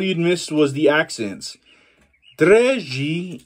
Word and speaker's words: Dreji: Dreji azantis ixan. Dreji azantis ixan. Nice. All you'd missed was the accents. Dreji azantis ixan means I really am a knight. Treji means really.